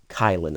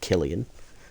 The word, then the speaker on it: Kylin: Or Kylin, I believe is how you say that, not Killian. It's Kylin.